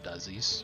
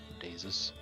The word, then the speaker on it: Daises: water janasi Monk um my name is pronounce it doesis but it's pronounced daises and I have come